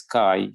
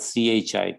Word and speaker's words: chi: This is chi, right? It's spelled C-H-I, chi, Greek letter chi.